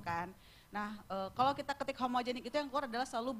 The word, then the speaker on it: HMGNC: di Wikipedia-nya kita benerin kita jelasin ini tetap dibacanya homogenik loh gitu tapi ada untungnya sih